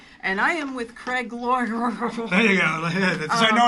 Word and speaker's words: Loydgren: Loydgren is my name.